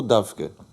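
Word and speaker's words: דווקא: revue littéraire dafka ou est-ce que ça se prononce dafka ou davke alors c'est c'est juste tous les deux oui d'accord vous avez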